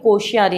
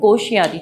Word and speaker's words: कोश्यारी: हैं वो भगत सिंह कोश्यारी हैं। ये आधा शय आएगा, आधा शय, भगत सिंह कोश्यारी, ठीक है।